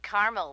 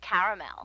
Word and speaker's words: caramel: what I said Tina actually you said caramel when it's pronounced caramel can't we just call